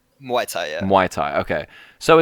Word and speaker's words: Muay Thai: Is it Muay Thai or is it Mai Tai? Oh, Muay Thai.